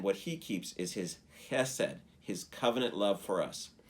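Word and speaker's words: חסד: The word that is love there is the Hebrew word chesed. And if you are learning Hebrew, it's not Hesed. It's Chesed. It's like CH, but that's the way the Hebrew is pronounced.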